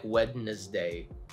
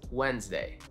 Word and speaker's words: Wednesday: Silent D, you already know it's Wednesday, even though it looks like Wednesday, but it's Wednesday.